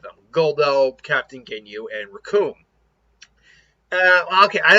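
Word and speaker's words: Recoome: And Raccoon, because it rhymes with Doom, and you're gonna be hurting, brother.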